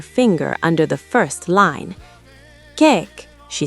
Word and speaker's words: kyk: "Kijk," she said. "It means look. You pronounce the Y like A in play. Kijk."